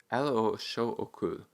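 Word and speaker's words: L.H.O.O.Q.: uh called l-h-o-o-q and when you pronounce the letters in france uh sorry in french it sounds like elo which is an auditory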